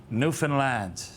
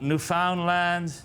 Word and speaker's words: Newfoundland: Now a scuff is a dance, and a Newfoundland, a blue star is a beer, and it's pronounced Newfoundland. Not Newfoundland, not Newfoundland.